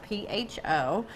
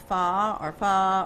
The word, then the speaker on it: pho: But we're doing kind of a Vietnamese style broth-based soup, which is spelled P-H-O, known as pho or pho, depending on who you are.